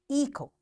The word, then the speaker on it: echo: Sometimes the letters T, G, and H are not pronounced in a word. For example, echo, design, which.